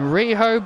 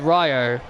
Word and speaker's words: Riho: sakai here tonight and riho by her side the reason why i'm saying her name is rijo that's because that's how michael told me to pronounce it riho i just said ryo i'm just saying